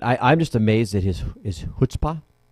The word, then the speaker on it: chutzpah: But I'm just amazed at his chutzpah.